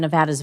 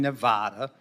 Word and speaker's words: Nevada: what about the impact of your plan on Nevada's veterans we have over 225,000 veterans in Nevada